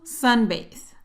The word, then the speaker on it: sunbathe: Likes to sunbathe. Practiquemos la pronunciación de esta palabra. Sunbathe. Sun. Sun. Bathe. A. Recuerda que para pronunciar esta TH, en este caso, tienes que sacar la lengua y soplar.